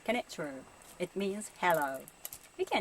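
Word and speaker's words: こんにちは: And this is not konnichiwa, but konnichiwa. It has 5 syllables. I know many foreigners say konnichiwa, so we can understand if you say konnichiwa.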